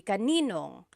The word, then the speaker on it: kaninong: And then just a pronunciation tip, kanino ang can be put together in a contraction. It would be kaninong.